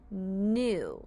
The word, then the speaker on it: knew: know that means I knew it the KNN again says n the ew says o to make new knew for example I knew